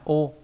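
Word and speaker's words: 汚: Âm onyomi là ô.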